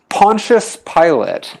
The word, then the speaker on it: Pontius Pilate: who's he pontius pilate pontius pilot so i i think it's spelled like pilates but without the s but it's pronounced pilot and i don't know